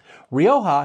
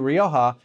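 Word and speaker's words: Rioja: to Roha and and a lot of people say rioa like there I'm I'm I'm not pronouncing it purely like a Spaniard would so just so if someone's like complaining that I'm flipping between different pronunciations you know I say Roha but Roha like they usually emphasize that that the J as that H sound anyway what brought significant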